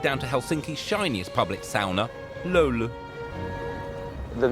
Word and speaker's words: sauna: drives us ever onwards sounder as the locals insist on pronouncing it it's the cornerstone of